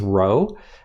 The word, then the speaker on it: rho: looking p it's a greek symbol that we pronounce as rho and so the idea here is that we would use our sample statistic r to make inferences about a population parameter rho okay now when we're doing our hypothesis testing